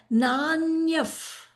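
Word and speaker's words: नान्यः: He did not say nanyaha. This word should have been nanyaha. Correct? What did he say? He said nanyaf. Because after the visarga, let's see who's the friend sitting in the classroom. There is pa. So when the visarga is followed by pa, or it becomes f.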